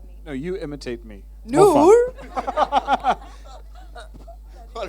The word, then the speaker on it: Noor: Noor.